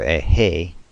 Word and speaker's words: He: Ehi, or Ehe, rhymes with say, which we transliterate as a H.